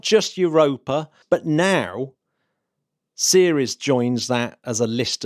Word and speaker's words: Ceres: with which is going to help me remember the name properly, because obviously it's spelt Ceres, but the headline is the World Series.